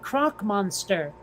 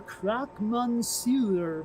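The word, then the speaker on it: croque monsieur: what is this and she pronounced it croc monster the kid did because that's what it looked like how it was spelled in the french menu you see crooked extra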